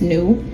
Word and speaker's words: nu: not only is it the N in Greek pronounced nu, it's actually pronounced nu. You don't say in. You know, back then you didn't say in if you were Greek, you would say nu.